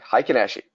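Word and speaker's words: Heikin-Ashi: i k i n space a sh i high kanashii and the high can actually is an aggregate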